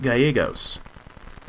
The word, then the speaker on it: Gallegos: You did a fantastic job pronouncing my name, too, with the double Spanish L's. I'm very proud of you. Yes, got to nail the A-yay.